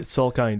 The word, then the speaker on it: Salkind: Is that how you pronounce their last name? Salkind, yeah.